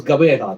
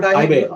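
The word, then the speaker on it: Gqeberha: That was Gabeha, not Ibeha. What I have learned is high beha.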